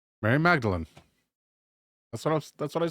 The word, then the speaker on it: Mary Magdalene: of the thing fairly easy to transport was mary magdalene a prostitute i'll take a look at that